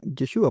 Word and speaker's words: Yeshua: María, su la mamá de Cristo, le llamaba Yeshua, porque esa es la manera correcta de pronunciar lo que hoy pronunciaríamos en español como Jesús, ¿verdad?